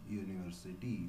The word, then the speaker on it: university: Okay, it is consonant sound y in university.